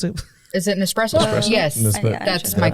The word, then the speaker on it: Nespresso: Nespresso. That's Did I my pronounce that wrong?